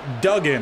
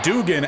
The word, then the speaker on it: Duggan: Just found out that I was mispronouncing Duggan. I was calling him Dugan as the right tackle moves early.